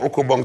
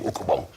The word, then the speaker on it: ukabong: This is an okobong. Me and my cousins would each make an okobong to play the Nasty family game, okobong.